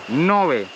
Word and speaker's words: Ngäbe: Ça se prononce ngäbe. C'est le territoire indigène ngäbe, et nous allons voir comment ils fabriquent des artisanats.